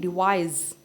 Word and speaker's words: devise: थोड़ा सा डिफरेंस है स्पेलिंग में, सी एंड एस का, DEVIC डिवाइस, DEVISE डिवाइस, ज की साउंड आ रही है इसमें।